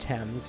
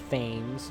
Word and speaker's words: Thames: It is pronounced Thames, not Thames, like I may have thought at one point in the past.